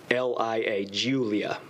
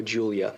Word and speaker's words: Giulia: a 2016 or newer alfa romeo giuliana and that's spelled g-i-u-l-i-a julia sorry g-i-u-l-i-a alfa romeo julia silver in color the vehicle appears to have